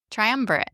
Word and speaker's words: triumvirate: Why don't I just press the button to see how it's pronounced, guys? She's so smart. Let's see. Triumvirate.